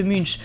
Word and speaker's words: Munch: Alors a priori, en fait, ça se prononce plutôt Munch, peinte en 1893.